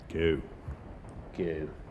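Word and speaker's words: Geaux: I'm seeing a lot of Go Southern, and they spell it G-E-A-U-X. I guess that's a nod to their French heritage. Go. Go.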